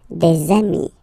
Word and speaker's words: des amis: And if you make the liaison, so the link between the two, you will get des amis. Okay, des amis.